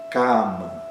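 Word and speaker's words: काम: Cama, cama, essa palavra com duas sílabas. O primeiro a é aberto e longo e o segundo é fechado e curto.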